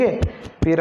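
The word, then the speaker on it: half: और HALP, हाल पर नहीं है, हाफ है, एल साइलेंट है, ठीक है दोस्तों।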